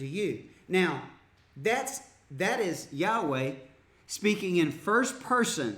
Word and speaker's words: Yahweh: God has which is Yahweh or a young Vey there's a debate on how it actually be pronounced but that's what God's